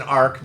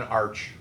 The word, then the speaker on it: arc: And notice it's an arc, not an arch. Let's not mispronounce our words in here.